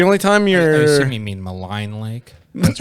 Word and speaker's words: Maligne: time you're any mean maligne lake that's right that's right malai Malloy but actually I met in Allegheny Gorge Milegi ones the correct pronunciation is malign yeah because I think